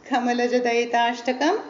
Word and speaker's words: Kamalajadayitashtakam: Not easy to pronounce. So let's. No, I will make you repeat. You say Kamalajadayitashtakam. Kamalajadayitashtakam.